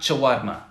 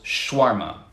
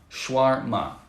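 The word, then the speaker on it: shawarma: varma with three syllables in english we just pronounce with two syllables shwarma schwarma right and all right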